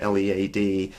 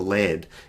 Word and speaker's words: lead: pronounce that as a lead or lead and the answer to that is what's its part of speech if it's a verb its lead if it's a noun is lead having parts of speech